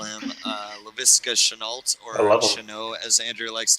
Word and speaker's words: Laviska Shenault: Zach Love, as Andrew likes to call him, Laviska Shenault, or Shenault, as Andrew likes to call him. And I'm the one with that pronunciation.